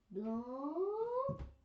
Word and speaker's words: blanc: Blanc. White. Blanc is like blank because it's spelled blank with a C.